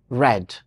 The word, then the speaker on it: read: about in the past in the past it is pronounced red and it trimes with